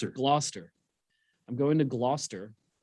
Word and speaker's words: Gloucester: At least you didn't pronounce the C this time. Yeah. for uh for four nights and then I'm going to get back. Yeah, I didn't call it Glowcester or Glow Chester or whatever.